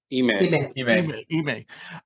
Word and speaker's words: Ime: Ime.